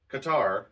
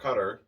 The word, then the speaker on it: Qatar: serving prison sentences and Qatar or Qatar you can pronounce it either way you know um